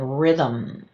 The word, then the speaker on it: rhythm: rh as in "rhythm." We don't hear that h right?